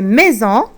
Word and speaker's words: maison: Quatrième mot plutôt, c'est maison. Alors, S ou 2 S? Maison, on doit mettre un seul S. C'est sûr, un seul S. Sinon, on va prononcer maison. Mais là, on prononce le son Z.